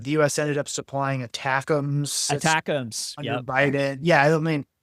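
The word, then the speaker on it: ATACMS: The American is is it's an acronym, but it's pronounced attackum.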